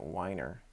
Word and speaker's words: Weiner: be done howard weiner it looks like weiner but i'm going to pronounce it whiner at the brigham and